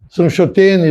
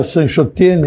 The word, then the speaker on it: Sanchotene: Nomes que a gente pronuncia, nome de ruas, Dubal, Goulart, Sanchotene, Lacroix, todos esses são franceses. E, na verdade, não é Dubal, é Dibá, não é Goulart, é Goulart, não é Sanchotene, é Sanchotene.